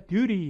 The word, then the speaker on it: duty: 모음 사이에 T 발음 굴립니다. 그래서 미국 사람은 듀티가 아니라 duty 이렇게 쓰는 거고요. 영국 사람들은 duty 이렇게 철자대로 쓰겠죠.